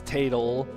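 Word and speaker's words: Tatl: Well, it's like, oh yeah, her name is Tatal, of course. T A T L. That's what that spells. So, like I try to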